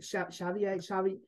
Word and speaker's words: Chevalier: Chevalier. How is that Yes.